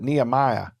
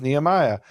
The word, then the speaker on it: Nehemiah: So, my name is Nhemia, but when I talk to people here in Texas, they can't say, so they pronounce it Nehemiah. And so, the English form, the anglicized form of Nhema is Nehemiah.